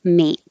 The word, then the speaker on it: mate: be a little shorter, mate. If the final sound is voiced, made, is voiced, then the vowel will be a little longer, made.